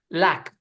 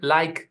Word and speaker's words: lack: And then I read, oh no, that was lack. So try to focus on getting the right pronunciation on that. Okay. Because it's recurring. Every time you say lack exposure, I hear like exposure.